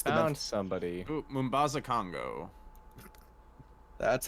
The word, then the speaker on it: Mombasa: Ooh, Mombasa, Congo. That's how you pronounce it.